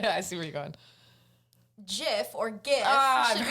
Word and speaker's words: GIF: GIF or GIF I've should be heard pronounced this. with a hard G or a soft G. But I say Oh, GIF. you say give?